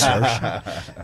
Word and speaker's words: Saoirse: It rhymes with inertia. It's Saoirse.